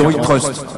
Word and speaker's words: iTrust: Faut que je prononce comment? À la française. Ouais, on va rester souverain puisque c'est le principe de l'offre. Donc iTrust.